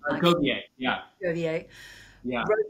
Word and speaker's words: Govier: So you and Michael Govier, is that how I say his name? Govier.